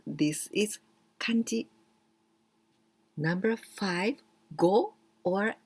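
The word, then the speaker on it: 五: and the last one the longer one and go it means a five so this is like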